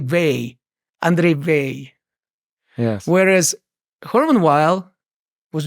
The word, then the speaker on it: Weil: So it's pronounced in a distinctly French way without pronouncing the last letter, the last consonant. You say Weil, André Weil.